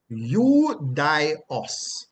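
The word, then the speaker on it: Ioudaios: is the same, but it is pronounced Eudios. Eudios. Eudios. Eudios. Right? Yes, like how you'd say Eudios. Right? Eudios. Eudios. Not Eudios. Eudios. Right? Slightly different pronunciation toward the end.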